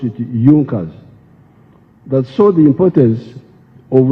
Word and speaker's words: Junkers: It is written Junkers, but they pronounced pronounce it Junas.